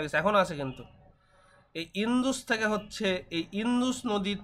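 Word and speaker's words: Indus: সভ্যতা ভারতবর্ষে চলে আসলাম এই যে সিন্ধু বানান দেখো ভালো করে দেখবা আইএন ডি ইউএস ইন্ডুস লেখা নাই ইংলিশে লেখা ইন্দুস বাংলায় উচ্চারণ করা হয় সিন্ধু এই সিন্ধু নদী আছে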